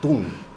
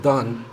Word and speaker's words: Dunn: que pasa es que en español mi Mi nombre es dun dun pero en inglés es don Don Caramba eso es lo